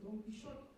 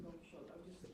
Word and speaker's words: Don Quixote: is doing that in Don Quixote, or like this beautiful viola solos in Don Quixote, Don Quixote, sorry. Keep on saying it wrong. I'm saying it in Dutch.